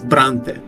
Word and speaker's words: Brante: by Italian names and in Russian it is actually not brown but it's Bronte yeah I'm sure that's actually how you say it in English Bronte but I don't I